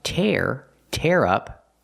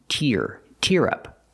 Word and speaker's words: tear: The first one is pronounced tear up, like you tear up paper. And the second one is tear up, when you cry just a little.